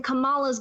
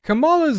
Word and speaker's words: Kamala: to end up in kamala's gulags unless we all stand up together and fight back as Christians kamala's Gulag okay first of all her name is pronounced Kamala not Kamala I don't know why people